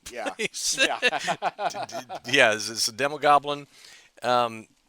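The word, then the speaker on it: Demogoblin: called the demog globin is that pronounced right demog gloin uh Goblin Goblin yeah because like the Hob Goblin oh yeah I put the L in the wrong yeah yeah a demo Goblin um h basically been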